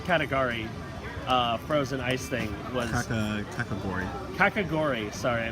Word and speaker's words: kakigori: a bit is available all the time that Caligari the category frozen ice thing category kakigori sorry I mispronounced it fantastic value like it was the